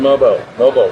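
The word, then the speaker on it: Mogbo: And so I had a chance to sit down with him the other day, and let's hear that conversation with Jonathan Mobo. Jonathan Mobo, correct pronunciation.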